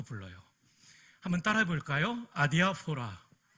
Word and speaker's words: 아디아포라: 주니까 저에게 이런 유익이 오더라고요 이것을 기독교 윤리학에서는 아디아포라라고 불러요 한번 따라해 볼까요 아디아포라 내 아디아 소라인데요 헬라어로는 이렇게 씁니다 알파 델타